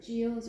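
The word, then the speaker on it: Geillis: Yeah, so Gillis or Giles or Giles, we've heard different historians have different ideas of how that might have been pronounced. We don't actually know, it's another one of those things. Yeah. But we'll say Gillis.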